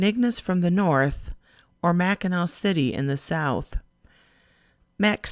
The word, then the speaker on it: Mackinac: to mackinac island and that's pronounced mackinaw you take a boat from either saint ignac from the north or mackinaw city in the south